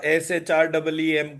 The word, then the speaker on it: श्रीम: तो pronunciation technically इन सब का SHREEM करके ही होगा।